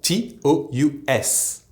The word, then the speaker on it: tous: Another form of the pronoun TOUT is the plural TOUS, spelled T-O-U-S, and where the ending S is actually pronounced.